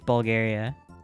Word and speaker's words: Bulgaria: said Bulgaria oh whoa it's not Bulger it's Bulgaria I don't know why